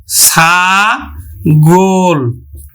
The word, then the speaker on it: ছাগল: তাহলে উচ্চারণ হবে কিন্তু মধ্য এর সংবৃত উচ্চারণ অর্থাৎ ও এর মত উচ্চারিত হবে তাহলে আমরা উচ্চারণ করব ছা গোল আমরা উচ্চারণ করব ছাগল